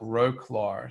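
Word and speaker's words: Wrocław: show people what it looks like it's um it's spelt roguelor so w-r-o-c-l-a-w but anyway so i got on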